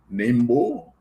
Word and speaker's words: Nimbo: that Nimbo is fo nimbo. Uh many people will pronounce it different ways, but it's Nimbo, which stands for the National Independent Movement for Bai.